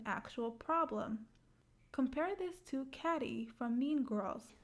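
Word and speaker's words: Cady: problem compare this to catty from mean girls it's pronounced like katie her internal conflict is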